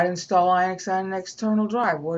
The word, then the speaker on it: Linux: And it should be pronounced Linux, not Linux. It's got one N. Therefore, in modern English, you pronounce it Li. L-I. If there were two N's, you pronounce it Lit.